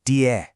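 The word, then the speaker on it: 爹: You pronounce it diē. It's this warm, really affectionate term for dad.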